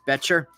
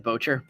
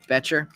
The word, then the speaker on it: Betcher: Pronounced Betcher. Thank you. What did I said? Bocher. Betcher. I will try and remember that.